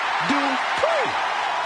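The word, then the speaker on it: Dupri: Here comes the talented Maxine Dupree. Michael, it's pronounced Dupree.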